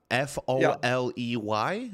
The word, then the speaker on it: Foley: Also, there are Foley artists who are focused only on recording sounds. Like there are you can find many videos about being a Foley artist, A and they have Foley, like Foley, like that's how you say it.